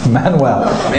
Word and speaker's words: Manuel: But luckily for today, the only Portuguese king we're going to talk about is Manuel, which is pronounced Frank? No, Manuel.